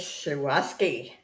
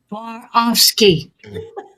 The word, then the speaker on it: Swarovski: Starting bid is 15, and it's Shawaski. I know I slaughter that word, but then I slaughter a lot of words. Ask Regina how you pronounce that. I will. Swarovski. Pronounce it for me, Regina. Swarovski.